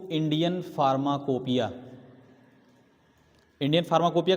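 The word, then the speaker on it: pharmacopoeia: टेढ़ा स्पेलिंग है इसका, PHARMA, फार्मा, COPOEIA, फार्माकोपोइया, अगर ढंग से देखो ना, है ना? लेकिन हम पढ़ते क्या है? फार्माकोपिया। अगर ऐसे करोगे फार्माकोपोइया हो जाएगा ना, नहीं, कोपोइया नहीं, फार्माकोपिया, इंडियन फार्माकोपिया, ठीक है।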